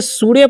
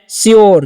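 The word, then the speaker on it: sure: अब जो वर्ड है SURA, तो इसे सूर्य पढ़ने का गलती नहीं करना है, इसे आपको पढ़ना है श्योर, क्या पढ़ना है, श्योर।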